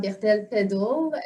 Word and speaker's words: Berthel-Peddle: Fait que dans le fond, comme que Tatiana l'a mentionné, mon nom c'est Jade Bertel-Pédel. Pédel, c'est anglophone, là, fait que c'est weird quand les gens le prononcent.